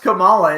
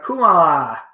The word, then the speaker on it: Kamala: It's not even It's not even pronounced Kamala. It's uh Kumala.